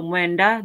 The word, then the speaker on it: mwenda: So mwenda, that would be ND together, just like the M and the W. So they're pronounced together, but each is pronounced mwe and da.